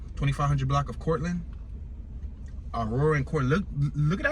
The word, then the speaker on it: Courtland: It's spelled Courtland with a T at the end, but I believe the T might be silent. 2500 block of Cortland.